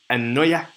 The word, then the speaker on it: anoia: The word folly actually means anoia. Anoia. If I'm saying that correctly, but A-N-O-I-A or A-N-O-Y-A-H.